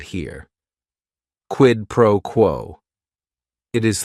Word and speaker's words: quid pro quo: Each word is only 1 syllable. And if you're saying it together, the stress is kind of on that first word and that last word, quid pro quo.